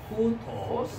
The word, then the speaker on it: οὗτος: And rough breathing mark pronunciation changed to H sound, right? Which is the throat sound. And then you see the rough breathing mark above the whip synonym, so οὗτος, right? οὗτος.